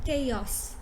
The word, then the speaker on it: chaos: a lot of us pronounce this word as kaiosh j off or something like this but this is in fact chaos so you say k first k k yeah now the next word